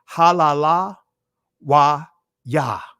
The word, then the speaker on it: hallelujah: But in ancient Hebrew, guess what? You'll pronounce that that Y as well. So praise ye Yahweh. Halala wa Yah.